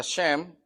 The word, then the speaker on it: Shem: siendo sem ahora sé en hebreo se pronuncia shem que quiere decir nombre